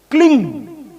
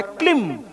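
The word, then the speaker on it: क्लीं: मंत्र, महाकाली का मंत्र, क्लिंग, इसका सही उच्चारण है क्लिम।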